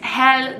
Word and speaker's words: Hel: I have not been tanned for a while hell despite its name it's it's pronounced with just one else so it's not